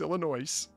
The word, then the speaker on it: Illinois: TSA agents working foreign the S is silent that's not it's Illinois I'm with you and